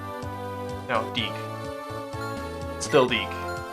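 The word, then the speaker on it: Dieck: So it's, well, I think it's still pronounced Deke. Dake? No, Deke.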